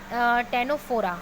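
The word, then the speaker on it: Ctenophora: प्रियंका चली के लिए सिलेंट्रेटा, कनाडा के लिए टेनोफोरा, हालांकि इसको टेनोफोरा बोलते हैं लेकिन सी साइलेंट होता है, तो इसीलिए कनाडा सी के लिए ध्यान में रहेगा।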